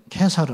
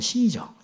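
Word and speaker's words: Caesar: 가이사라 그래 성경에는 가이사라 가이사 이걸 케사르 아고 하고 역사적으로는 시저 영어로는 시저를 하지요 그들의 발음대로 하면 케사르에게 그다음에 안토니우스 옥타비아누스 이런 이야기들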